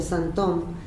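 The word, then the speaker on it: sinthome: cambia la ortografía y la escribe con TH y se pronuncia Santom, y tiene otra lectura,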